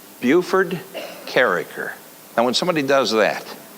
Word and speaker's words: Bufe Karraker: And this guy said, Bufe Karraker. Now when somebody does that, I know they knew me way back when. They pronounce it right.